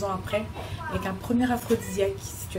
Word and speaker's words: L'Afrodisiac: Ça s'écrit AFRO, donc comme vous l'avez dit, pour jeu de mots Afrique. Et aussi pour l'ingrédient secret qu'on met pratiquement, quasiment dans tous nos plats, qui est assez aphrodisiaque.